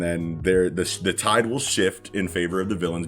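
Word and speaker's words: 四: so you know how four is considered an unlucky number in Japanese since sometimes it can pretty much be pronounced as Shi which means death yeah well next Saturday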